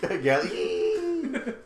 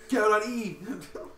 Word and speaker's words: Gal.exe: Actually, you don't pronounce the X. Oh, I'm sorry. Gal. Gal. Gal. Gal.